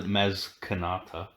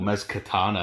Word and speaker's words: Maz Kanata: No, this is just it's relevant to Maz Kanata. Yeah. Or Maz Katana, as everyone kept mispronouncing when it came out.